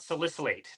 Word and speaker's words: salicylate: So I did want to ask you about salicylate.